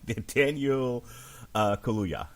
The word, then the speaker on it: Daniel Kaluuya: I can never pronounce his last name. Here we go. Daniel Kaluuya.